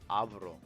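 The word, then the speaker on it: Álvaro: His name is pronounced Avaro, but it's because he's probably not.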